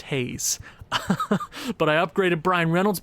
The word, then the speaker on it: Hayes: if future owen remembers apparently i was pronouncing uh my franchise player key brian hayes is name wrong that is how you're supposed to pronounce it apparently if i'm wrong again i give up it's just haze but i upgraded brian